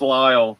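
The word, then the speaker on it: Lisle: Is that how you pronounce it? I thought it was like Lissy or something. I never really. I know. Everybody says that, but it's Lyle.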